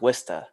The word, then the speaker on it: Worcester: me get this right you said worcester where's bird you know it's pronounced wista yeah hey you gotta